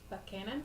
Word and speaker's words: Buchanan: Buchanan.